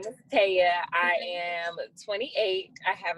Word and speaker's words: Tia: Okay, so my name is spelled Tia, but it's pronounced Taya. Everybody calls me Tia. I let it go most times. But my name is Taya.